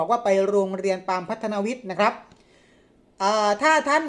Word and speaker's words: พัฒนวิทย์: แน่ นอน นะ ครับ อ่าน ออก เสียง ว่า โรง เรียน ปาม พัฒนวิทย์ นะ ครับ ไม่ ใช่ ปาม พัฒนา วิท นะ ครับ โรง เรียน ปาม